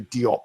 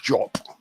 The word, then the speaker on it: Diop: We say Diop in English, but I think it's pronounced Diop in French.